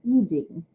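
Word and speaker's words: I Ching: ancient chinese divination text known as the yi jing or i-c-h-i-n-g still-pronounced eugene he is ram tanawan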